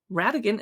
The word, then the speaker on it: Rhatigan: By Bailey Radigan. And it came out January 18. Radigan is spelled Rhatigan.